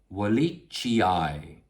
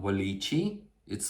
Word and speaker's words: wallichii: Schismatoglottis, Wallichii. It's not Wallichi, it's Wallichii. You have to pronounce both letters.